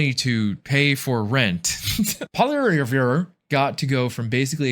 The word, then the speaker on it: Poilievre: I don't even remember how to pronounce it now. Poilievre.